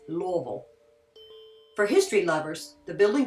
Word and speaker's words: Louisville: tell a true Kentuckian by the way we pronounce Louisville it's not Louisville it's not Lewisville it's Louisville for history lovers the building style is early